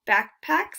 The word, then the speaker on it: Bakpax: It's called Backpacks. It's spelled BAKPAX.